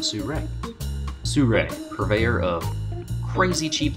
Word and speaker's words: Sirui: you get it sourey you pronounce it su-ray sure purveyor of crazy